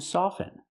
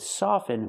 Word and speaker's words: soften: But with soften, we do not pronounce the T. Never pronounce the T in the word soften. With the verb soften, the T is always silent.